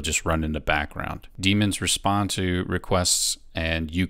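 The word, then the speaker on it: daemons: looks like it spelled Damons or pronounced Damons but it's just pronounced demons a demon is a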